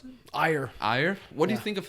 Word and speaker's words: Ajer: How do you pronounce it? Ajer.